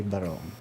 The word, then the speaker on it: barong: what we call um in the philippines a baron it's spelled as b-a-r-o-n-g um the n-g sound is